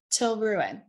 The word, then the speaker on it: Tilraun: Our horse guide today, your horse guide, will be Tilruin. Tilruin is a fierce awakened woman for sure. Her name is spelled Tilraun. Tilraun, and it's pronounced Tilruin, Til for short.